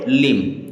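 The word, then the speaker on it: limb: means होता है आठ एल आई एम बी एम के बाद में बी तो बी हो गया साइलेंट अब इसे पढ़ेंगे लिम इसे पढ़ेंगे लिम के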